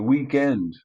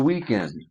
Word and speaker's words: weekend: North Americans say weekend, and here in the UK they say weekend.